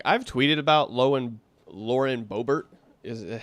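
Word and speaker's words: Lauren Boebert: so real quick I've tweeted about low and Lauren bobert is how you say her name before this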